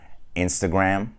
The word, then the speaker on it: Instagram: Ama İngilizce'de de orada schwa var yani. E yok. Instagram, Instagram. Türkçesi de Türkçe telaffuz edelim bence arkadaşlar.